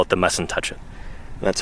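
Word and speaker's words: Mussentuchit: of the Cedar Mountain we call it the m and touch it that's how it's pronounced yeah and uh of course I wear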